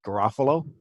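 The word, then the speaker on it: Garafolo: How's that guy's name pronounced? Garofalo.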